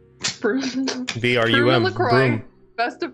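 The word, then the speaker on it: Brum: His name was Broom. Broom B-R-U-M, LaCroix. Broom. Best of friends. B-R-U-M, Broom, if you'd like to spell it.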